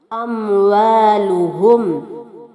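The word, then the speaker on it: أموالهم: അനിന്റെ ഉച്ചാരണം ശ്രദ്ധിക്കുക അഹ അവാലുഹും ഇവിടെ അൻഹും എന്ന വാക്കിലും അതുപോലെ അംവാലുഹും എന്ന വാക്കിലുമായി മൂന്ന് സുക്കൂനുള്ള മീമുകളെ കാണാം ഇവിടെയൊന്നും തന്നെ സുക്കൂനുള്ള മീമിനെ മണിക്കാൻ പാടില്ല ആ മീം അവിടെ വ്യക്തമായി കേൾക്കുകയും വേണം വലദുഹും ഇവിടെ വലാ എന്നലാ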